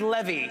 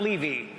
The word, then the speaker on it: Levy: if it goes well tonight my name is pronounced Levy not Levy and if things go south my name is